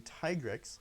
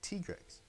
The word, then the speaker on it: Tigrex: So I'll be pronouncing Tigrex like Tigrex.